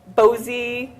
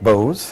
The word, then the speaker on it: Bose: Like the brides might want to know, is it Bozy? Is that how you say it? Bose. Bose. Well, most of our systems are kind of different compared to a lot of other DJs.